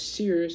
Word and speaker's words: Sears: see the screen but it says s e e rz z. That's how you supposed to say it.